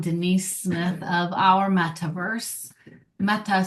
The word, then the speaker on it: Metta: Metta, spelled with two T's, means loving kindness. It's kind of a discussion to really pay attention to, not meta, but metta, loving kindness.